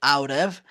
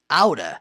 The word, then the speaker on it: out of: Para quem não se lembra, aura é uma adaptação, é uma contração de out of. Então, out of, falando rápido, pode ser pronunciado out of ou aura.